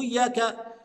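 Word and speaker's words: إياك: لا يا احبابنا مو اياك اياك يبقى اجيب الهمزه اولا فاقول اي ايا ثم اتي بتشديد الياء لان الحرف المشدد فكرته عباره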